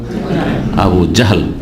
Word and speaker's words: আবু জাহল: জি, আমাদের দেশের লোকেরা আবু জেহেল বলে, এমনকি সাধারণ লোকেদের দেখা দেখে আমাদের দেশের বক্তারা ওইরকম ভাবে বলে জেহেল। অন্তত আলেমদেরকে, বক্তাদেরকে শুদ্ধ উচ্চারণ করা উচিত। কারণ আপনারা সবাই আকামা বলছেন, তো আমিও কি আকামা বলবো নাকি?